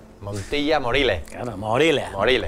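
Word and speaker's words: Montilla-Moriles: Y bien conocida, que es Montilla Morile. Montilla Morile. Claro, Morile. Morile. Claro, sin la S, ¿eh?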